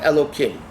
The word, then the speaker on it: Elokim: is not written out Elokim. It's written Yud Kei Vav Kei, but we pronounce it Elokim.